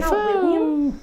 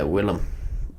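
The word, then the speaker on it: Willem: looking uh Willam defo how do you say his name Willam def is it William Willam Willam okay I've been messing that up yeah Willam Willam good to know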